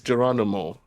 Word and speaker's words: Geronimo: Okay, He said like the song, like the so song.